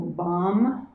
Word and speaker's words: BAM: And now we'll sound the seed syllable BAM, B-A-M, and that's her seed syllable.